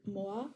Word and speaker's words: mo'a: For example, there's the word moa, which means chicken, but mo'a means cooked. And if you, I try to do my best, but there's a glottal stop in the second pronunciation. Adding the glottal stop changes the meaning completely, and there are a